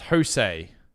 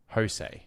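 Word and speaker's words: José: His name is pronounced Jose. Jose.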